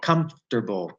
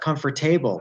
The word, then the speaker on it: comfortable: Comfortable. Wow, it's really 5 consonants. A lot of these words that end in A-B-L-E, most of them are not pronounced able, like it's not comfortable.